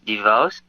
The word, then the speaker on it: Devoss: well my name is you pronounce it right my name is devos and my production company